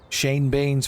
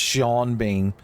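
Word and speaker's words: Sean Bean: That comes with the territory of having uh Shane Bean's voice, son. At the very end of the game, he's just going to scream at me that it's pronounced Shaun Bean.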